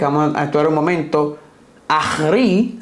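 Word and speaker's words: ἄχρι: a actar un momento ahri así se pronuncia en griego ahri Hasta eso significa Esa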